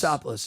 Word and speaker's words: Drosopoulos: Well, his last name is Drosopoulos.